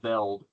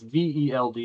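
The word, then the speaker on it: veld: Um the name of the book again is Man, Cattle and Vel or Felt depending on how you pronounce it. Vel.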